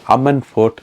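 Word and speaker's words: Ammanford: சொல்லை பார்க்கும்போது சந்தோஷமா இருந்தது இதை வந்து அம்மன் என்று உச்சரிக்கணுமா எம்மன் என்று உச்சரிக்கிறோமா என்றெல்லாம் செக் பண்ணி பார்த்தேன் ஆக்சுவலா அதை வந்து அம்மன் போர்ட் அம்மன் வேலை என்று சொல்லி அம்மன் என்றுதான் உச்சரிக்கிறோம் சோ அதை கேட்க வந்து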